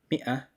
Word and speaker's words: مئة: 100 is called مئة, and that alif after the meme is silent. Don't pronounce it, just pronounce the kasra and then the hamza.